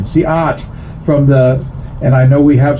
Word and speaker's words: Seattle: Chief Seattle, again, a mispronunciation, Siat, and I know we have some Duhamish people here, that he made a famous speech.